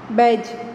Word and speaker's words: badge: thick C silent, badge D silent, writer W silent, knitted K silent.